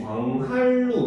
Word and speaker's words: 광한루: 얘를 발음해보면 어떻게 돼? 광한? 광한루. 그치, 광한루 이렇게 돼요. 그렇죠? 네. 그럼 여기서 있는 두 번째 음절의 니은이 리을로 변했잖아요. 그렇죠?